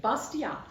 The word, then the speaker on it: Bastiat: Frederick Bastiat, and I looked it up. That's how you say it. Bastiat.